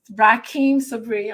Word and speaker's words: Rahkim Sabree: You let everybody, Rahkim, I know it's Rahkim Sabree, I'm saying it correctly.